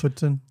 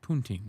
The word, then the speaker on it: poutine: you're from New Hampshire, you call it Putson, which Putson makes no sense because it's not spelled Putson. It's spelled poutine, just like you said.